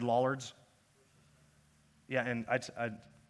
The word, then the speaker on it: Lollards: check check check okay here we are gloucestershire lollards now you see that was not just the proper pronunciation but also in the beautiful accent that